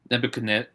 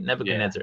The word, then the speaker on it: Nebuchadnezzar: Nebuchadnezzar, right? Nebuchadnezzar.